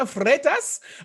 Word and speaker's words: Freitas: another exciting podcast interview discussion talking to mariana fretas who is the founder of sirius app located